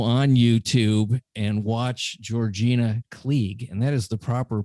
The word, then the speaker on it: Kleege: that they go on youtube and watch georgina klieg and that is the proper pronunciation k-l-e-e-g-e um and there's some great stuff